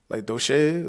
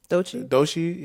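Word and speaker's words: Doechii: but I think it's just like Doche. That's how you say her name. Doshi, yeah, Doshi.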